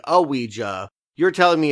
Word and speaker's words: Ouija: your name and so it is pronounced ouiji or ouija but it is two syllables.